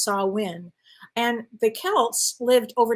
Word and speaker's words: Samhain: It's spelled Samhain, but it's pronounced Samhain.